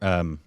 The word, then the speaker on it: Shahid: be Shahid. It's Shahid, like Shahid Kapoor. Okay. Just double check. The account of a human rights lawyer, Shahid Azmi.